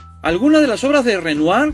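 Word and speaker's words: Renoir: de las obras de renoar Me parece que se pronuncia así alguna de las obras de renuar pertenecen a un espacio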